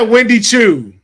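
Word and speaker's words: Wendy Choo: I said Wendy Chu, Dylan.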